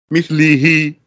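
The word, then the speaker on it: مِثْلِهِ: The last letter suffixed on the word mithli is the ha, with a kasra. Mithli he. So it is actually pronounced he.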